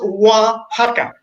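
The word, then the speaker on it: Oaxaca: but on lockdown can't do it it's it's pronounced waka waka yeah I Waka is one of the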